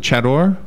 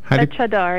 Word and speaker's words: chadar: And that headscarf is called, how do you pronounce it? Chador? Chadar, yes.